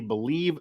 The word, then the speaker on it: Bleav: network on twitter and that is b l e a v by the way but it is pronounced believe also everywhere they have